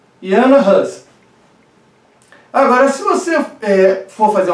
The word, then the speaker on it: Jan Hus: Veja, o nome dele, isso é muito importante, eu estou pronunciando em tcheco, tá? Jan Hus.